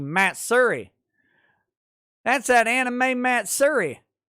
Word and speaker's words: Matsuri: how to properly pronounce matt suri uh no listen whatever you may think about anime matsuri it's a it's a texas place so it's actually matt surrey that's that anime matt